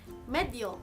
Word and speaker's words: medyo: はい、さて今回のレッスンは副詞のメジョです。